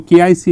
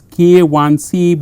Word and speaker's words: KIC: So, KIC is wrong. So, you have to pronounce it as K1C because 1 has a specific meaning, 1 mean this is the mode 1 type of loading.